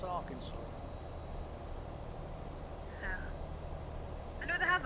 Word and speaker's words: Arkansas: That's how it's spelled, Arkansas, but it's pronounced Arkansas.